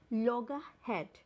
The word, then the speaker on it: loggerhead: पता चलती है और इसकी राइट प्रोनाउंसिएशन होगी लॉगरहेड। लॉगरहेड, यहाँ पे ई आर को गु ये वाली प्रोनाउंसिएशन देते हैं, जैसे कि लॉगरहेड, लॉगरहेड। यहाँ पे आर को आप प्रोनाउंस नहीं करेंगे।